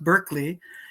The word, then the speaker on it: Berkeley: So the the university in California what's pronounced Berkeley is named after Barkley because he came over there and and started a colony there etc.